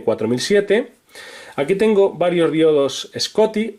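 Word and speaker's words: Schottky: diodos scotty o soki hay que tener cuidado con la pronunciación porque hay dos que se pronuncian de manera muy parecida entonces para diferenciarlos yo digo scotty pero eh el nombre correcto sería Shoki como sabéis por vídeo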